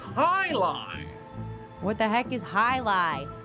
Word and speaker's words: Jai-Alai: What the heck is Jai-Alai? It's pronounced Highline.